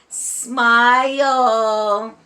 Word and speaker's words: smile: smile s yep there's an e in smile even though we can't hear it because the e is silent and sneaky silent and sneaky like